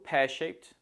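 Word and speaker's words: pear-shaped: wrong for go pearshaped the stress falls on pair so it's go pearshaped also remember to use the T or t sound at the end of shaped as shape ends in a p sound so the Ed makes a t sound go pearshaped go pearshaped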